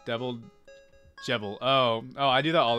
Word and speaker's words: Jevil: It's pronounced devil, but with a J. Devil. Jevil.